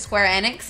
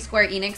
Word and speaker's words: Square Enix: because I found out they pronounce it Square Enix, and I've been saying Square Enix for so long because then you can say Squeenix.